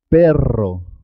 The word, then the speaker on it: perro: Es importante marcar la R. Perro, perro.